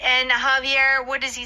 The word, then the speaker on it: Javier: Javier is spelled Javier. You know jalapenos? Yes. A lot of Korean people like jalapenos. Yeah. And that is also spelled with a J. So in Spanish, J is that sound.